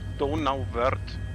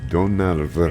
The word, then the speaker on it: Donauwörth: Okay, it's pronounced Donauwörth. Donauwörth.